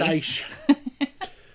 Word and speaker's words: Pastéis: Pastéis.